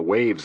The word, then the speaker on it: WHAVS: I don't remember seeing a Prince Gibb on the waves list. WHAVS, pronounced waves, stood for White House Access Visitor System.